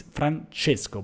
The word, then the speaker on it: Francesco: great my name is francesco by the way with with c which is pronounced she in italian but i spell like